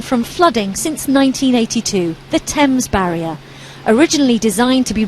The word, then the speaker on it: Thames: said, Steve, it's simply the Thames, not Thames, but Thames, and it just sounds like Thames sometimes. It's Thames.